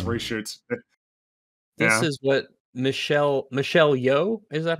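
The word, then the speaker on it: Michelle Yeoh: long then plus reshoots this is what michelle michelle yo is that how you pronounce it yes uh she said daniels i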